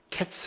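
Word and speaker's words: קֵץ: 가지고 있습니다 네 이제 여름 과일은 히브리 말로 카 있으라고 하고 또 이 끝은 캡스 라고 한답니다 보니까 카이스 어캐 스가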